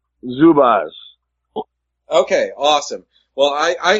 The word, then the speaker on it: Zubaz: you settle a bet for me is it pronounced Zubaz or zubas zubas okay awesome well I I had an opportunity